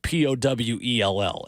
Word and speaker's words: Powell: PALS for those of you spelling at home, not like Powell High School, which is spelled Powell.